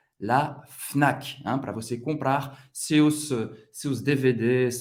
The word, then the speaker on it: Fnac: La Fnac. La Fnac. Todas as letras vão ser pronunciadas la Fnac, para você comprar seus